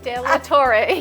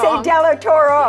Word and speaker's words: De La Torre: with Corner Escrow, and I say her last name, but I always pronounce it wrong. De La Torre, yes. Thank you. She says I always say De La Toro. Yes, yes. I don't know, it's Toro Bull, right?